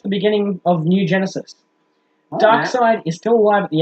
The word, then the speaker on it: Darkseid: Darkseid. Coming We're at gonna you with spell it so it sounds like Dark Seed.